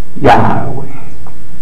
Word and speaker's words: Yahweh: Imposible de pronunciar en este estado, pero con la adhiriéndole la A de Adán y la E de Eva, es pronunciable Yahweh.